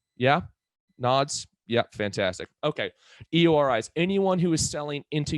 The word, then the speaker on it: EORI: not going to matter an eori number or an iori as some people pronounce it is effectively a passport